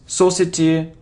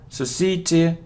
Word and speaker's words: society: Z Z it's because it isn't so CT or Society no it's society society Society okay so you see